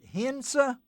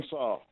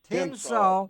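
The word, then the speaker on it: Tensas: Is it is it Hensa Parish, Louisiana? Is that is that where you're from? Tinsaw. Tensaw.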